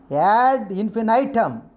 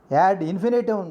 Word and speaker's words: ad infinitum: Ad infinitum. Infinitum is one of the pronunciation. Ad infinitum, not ad infinitum. This is the correct pronunciation.